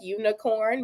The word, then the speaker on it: unicorn: live in your dialect unicorn may have a little bit of a schwas sound in that unstressed middle middle syllable so you know you